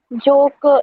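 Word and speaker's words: joke: इट्स नॉट a very common ऐसे rhyme, but जोक इज a good example silent ई का, right.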